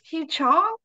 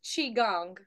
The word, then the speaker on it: Qigong: The one you did today, it's Ki Chong. I don't want to say it wrong. It was so close. Qigong.